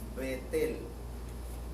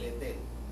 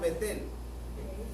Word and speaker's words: Bet-El: O sea, su verdadera pronunciación en el hebreo es Bet-El.